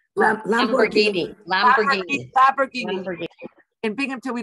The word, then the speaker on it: Lamborghini: uh help me out the with with the pronunciation here la la marini lamborghini lamborghini fabric and binghamton we don't see any